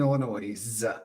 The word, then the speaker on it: Illinois: see Lumen gets it it's like pronouncing the ass in Illinois which by the way